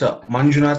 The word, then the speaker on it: Manjunath: It's Manjunath. Okay, Manjunath.